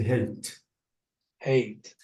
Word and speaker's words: hate: hat hat ah now if I want to add e at the end it will be what hat now you have to say hey eight uhuh so please sometimes